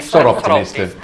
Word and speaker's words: Soroptimist: Qual è la pronuncia? Soroptimist.